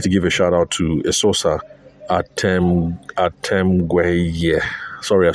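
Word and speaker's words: Eseosa: So, uh Esosa, but sorry, Esosa, but her Esosa Even though it's pronounced Esosa, it is spelled E S E O S A.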